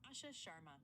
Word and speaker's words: Asha Sharma: Asha Sharma. Asha Sharma.